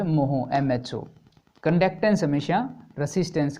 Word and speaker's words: mho: Resistance की unit की बिल्कुल उल्टी, रेसिस्टेंस की यूनिट की स्पेलिंग होती है OHM, और कंडक्टेंस की जो पुरानी यूनिट है वो होती थी MHO, मोहो।